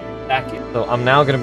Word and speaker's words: Sachiel: So instead of Sachiel, it's actually Sachiel.